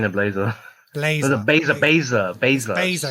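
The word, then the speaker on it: Blair: Blazer, because I always want to say now Blazer, you got but me there's no L there.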